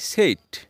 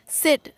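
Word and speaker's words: said: বাংলা অর্থ বলা সে past form আমরা প্রায় বলে থাকি সেইড কিন্তু এটা ভুল উচ্চারণ সে পাস্ট ফর্ম উচ্চারণটা কি হবে সেড পাস্ট পার্টিসিপল ফর্মের কি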